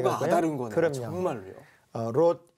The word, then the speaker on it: 롯: 롯 이야기를 잘못 발음해서 룻 그러면 큰일이 납니다.